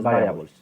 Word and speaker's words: variables: Entonces se escribe igual, pero se pronuncia Sí, diferente. En español es sí, sí, variables, sí. en inglés es variables.